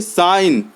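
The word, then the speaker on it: sign: जैसे दूसरे नंबर में साइन तो साइन हमने पढ़ा साइन जी साइलेंट है तो यहां हम जी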